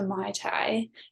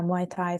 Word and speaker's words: Muay Thai: conversation you mentioned that you have gotten into Mai Tai I think that's how you say it is that right yeah Muay Thai slush boxing oh interesting so how has that